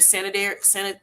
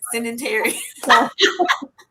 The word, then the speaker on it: sedentary: So you may be a little bit more, not used to you're very sanitary. Is how you say it. Sanitary. Yeah. Sedentary. Is that how you say it? Sedentary. Yes. Sedentary. You may be sedentary, which means that you're a couch potato.